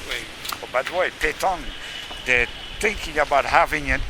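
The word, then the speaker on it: pétanque: I think all of a sudden I know how to pronounce it. Petanque.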